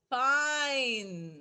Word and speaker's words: pine: Pine. Right? Look. प इन बोलते थे पहले हम लोग, राइट, शॉर्ट वावल में. बट अब हम लोग क्या बोलेंगे? प आइन. E is silent.